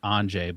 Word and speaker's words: Andrzej: So I got the first name down as Andrzej, but I never considered looking up how to pronounce the last name.